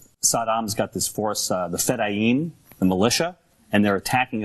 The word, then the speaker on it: Fedayeen: The Fedayeen, yeah, Colin.